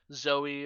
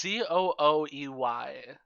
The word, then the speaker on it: Zooey: Zoe or Zooey, or I'm not really sure how to pronounce her name. It's gotta be Zoe. It's Zooey. So It's gotta be Zoe.